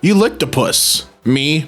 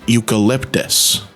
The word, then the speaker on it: eucalyptus: so good smell it you lopus me dot dot dot 9-year-old nephew hands me a Candle jar it's pronounced eucalyptus the kid didn't know